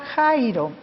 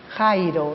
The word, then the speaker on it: Jairo: y lo que nosotros al leerlo en español decimos jairo verdad porque nosotros pronunciamos la jota sin el sonido de elche entonces jairo la hija de jairo